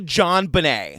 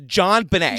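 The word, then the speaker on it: JonBenét: And I want to also say her name is actually John Benet. And I looked it up. It's a port manto of her dad's first name and last name. So, it's John Benet.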